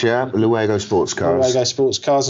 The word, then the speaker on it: Luego: And then in 98 to 05, you became the operations director for Luego Sports Cars. Have I pronounced that correctly? That's correct, yeah. Luego Sports Cars.